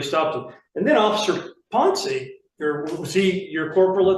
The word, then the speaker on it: Ponce: And Officer Ponce, is that how you pronounce his name, Ponce? Ponce, yes.